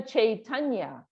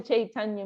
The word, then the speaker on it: Chaitanya: So what does Krishna Chaitanya mean? Actually, we're all pronouncing it wrong. Bengalis, they say Chaitanya. It's a little difficult for the Western. Chaitanya, like that.